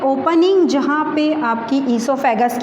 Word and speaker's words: oesophagus: कर रहा है इसकी टोटल इसे हम बोलेंगे इसोफैगस थे फूड पाइप कोई बोला जाता है इस सौंफ खसखस और साइलेंट होता है यहां पर और का प्रकाशन